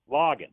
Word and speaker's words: Loggins: Loggins. Yeah, like Loggins in Messina without the Messina.